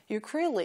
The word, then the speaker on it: ukulele: 우쿨렐레 ukulele 이렇게 발음하시고요.